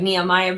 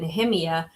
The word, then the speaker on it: Nehemiah: It looks like Nehemiah, but he pronounces it Nehemiah.